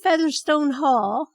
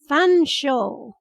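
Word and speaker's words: Featherstonehaugh: Featherstone Haw?" "Fanshawe," I said. "Oh, could I speak to Mrs. Featherstone Haw, please?" "Fanshawe," I repeated. "That's how it's pronounced. Fanshawe."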